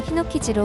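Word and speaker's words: 火の傷: 반면 불의 상처는 노자를 붙여서 히노키즈로 혼독해서 읽습니다.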